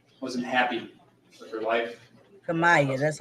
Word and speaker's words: Kemia: Kemia, that's how you say it.